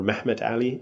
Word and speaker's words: Mehmet Ali: Those were the descendants of a man named Muhammad Ali or Mehmet Ali uh in the Turkish pronunciation, who had come to